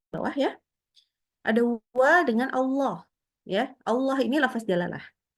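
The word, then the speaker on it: الله: ini lafaz jalalah ketika kalau cuma Allah aja ya itu juga tebal tapi ketemu wa ya tetap tebal Kenapa karena wawya harakatnya fathah maka Allahnya tetap tebal jadi baca bacanya wallah wallah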